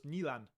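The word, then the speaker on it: Nyland: By the way, Nand is pronounced closer to Nan, not Nland.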